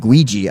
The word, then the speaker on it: Guigi: This was a college-age student man who created a female tulpa of a pony, named Guigi. I think I'm pronouncing it right. Ouija? G-U-I-G-I, like Luigi with a G.